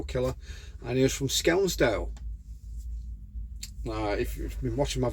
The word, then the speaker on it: Skelmersdale: I didn't realise it was spelled like, because when it's spelt, it looks like it's pronounced Skelmersdale, but it's not. It's Skelmersdale.